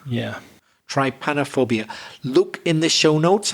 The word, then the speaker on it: Trypanophobia: Let's see if I can pronounce it. I think it's Trypanophobia. Yeah. Trypanophobia.